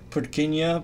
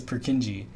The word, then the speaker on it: Purkinje: This is, the original pronunciation is Purkinje, but everyone says Purkinje.